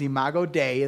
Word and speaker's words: imago Dei: for the latin phrase image of god is imago dei that's how you say it and it means